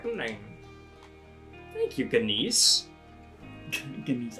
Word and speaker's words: Ganesh: Ganesh. I feel like probably, like, the G doesn't get pronounced, but everyone pronounces it as, like, a personal attack on them.